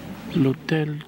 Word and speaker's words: L'Hôtel: Hotel can have many different meanings, and yeah, it's spelled with an H, a silent H. L'Hôtel, the hotel.